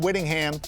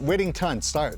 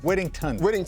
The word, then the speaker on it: Whittington: So Jordan Whittingham is Whittington.